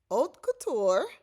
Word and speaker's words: haute couture: So let me try that again on the pronunciations of those 2 words. Haute couture and pret-a-porter.